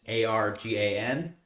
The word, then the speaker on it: Argan: I will say that Argon, it's not spelled like the element, it's Argan. I think that's the only Like reference. argan oil.